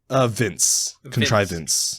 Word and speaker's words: contrivance: Contrivance. Contrivance. Okay. Yeah, I'll give you a hint. It's not Vince. It's more like Vance.